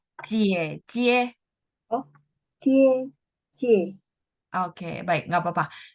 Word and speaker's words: 姐姐: Eh, ya, kakak perempuan kita bacanya cie, cie.